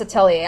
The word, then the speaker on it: Atelier: don't even know all right so inside this Atelier announcement on now yeah it's actually pronounced Atelier I did hear that somewhere I don't remember